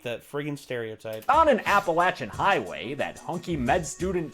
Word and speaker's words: Appalachian: freaking stereotype on an appalachian highway that hunky med student chris also just thrilled about it's on an appalachian and he's saying it right james is saying it our way yes thank you james